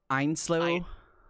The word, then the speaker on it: Ainslow: Einslow. Einslow. Einslow, like I-N kind of.